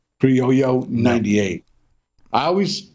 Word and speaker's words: Criollo: Binder is Nicaraguan Carrillo. I'm saying that wrong. I always say it wrong. Criollo 98.